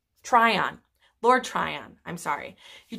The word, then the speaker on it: Tryon: he tricks Lord Tyron I really should say his name right Tryon Lord Tryon I'm sorry